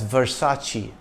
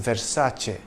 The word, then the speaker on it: Versace: the brand name is often mispronounced as Versace but the correct pronunciation is Versace it's certainly not versus or Versace you see in Italian C is pronounced CH when it is followed by e or I in 1994 the black